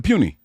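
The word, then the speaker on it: Puni: Yeah, it's Puny. Yeah, Dominic Puny.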